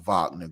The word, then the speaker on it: Wagner: I think it's called vogman if I'm pronouncing it what is it Wagner w-a-g-n-e-r group it's why it's spelled Wagner but it's pronounced vogner group um so I